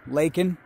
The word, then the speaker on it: Lacon: so it was after laken lacone laken it's bacon but spelled with an l uh after that it